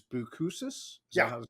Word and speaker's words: Boucousis: It's actually you use the word because your your full name is and last name is is Buusus. Yeah. It's hard to pronounce.